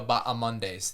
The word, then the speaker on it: Bahamondes: Oh, yeah, it's Christos Giagos versus Ignacio Bahamondes. The H is silent. Bahamondes. It's Bahamondes, Okay. not Bahamondes. It's Bahamondes.